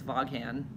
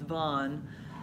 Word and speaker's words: Vaughn: I know my name has like bunch of, everybody says Voghan. Everybody does. I'm like, nope, it's just one syllable, just like yawn rhymes with yawn. It's Vaughn.